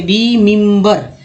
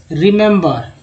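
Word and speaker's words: remember: अब तीनों का अगर उच्चारण एक ही होता तो इसे क्या पढ़ते, रिमिम्बर, रिमिम्बिर पढ़ते हैं, है ना। ऐसा नहीं, अगर ऐसा नहीं है क्योंकि 3 ही है, इसका उच्चारण देखिए, पहला ई का छोटी के रूप में, दूसरा ई जो है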